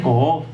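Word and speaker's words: קוף: Ese es el título que se le confiere, y está influenciado por una letra que se pronuncia Ko'of, que es la letra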